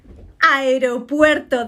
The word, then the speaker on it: aeropuerto: How do you say this word? Aeropuerto. That's the correct way. Aeropuerto, not aeropuerto.